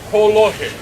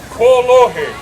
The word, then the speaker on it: kolohe: very mischievous, or as we say in Hawaiian, kolohe. All right, I need your help here, friends. E hoa pili mai, repeat after me. Kolohe.